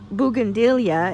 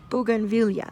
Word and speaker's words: Bougainvillea: you guys you know for the longest time I was calling it bandila and then finally Robert my husband got tired of hearing me say it wrong so he corrected me and we looked it up online and sure enough I was saying it wrong it's Bugan vilia okay so back to